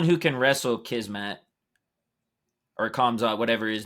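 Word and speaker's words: Khamzat: He's the only one who can wrestle Kismet or Kamzat, whatever his name is. Yeah, I don't even know actually how to pronounce dude's name. It's Hamzat.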